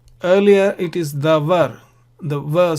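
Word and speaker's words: דָּבָר: If you put the vowels here, this is pronounced as davar, which means word or speech, and this is a noun. But if the vowels are different, this one can be read, this must be read as diber.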